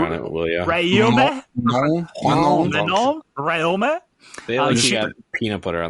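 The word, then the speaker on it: Rhéaume: Rahume? They got peanut butter on the roof. Pronounce barely any of the letters, and you'll get it.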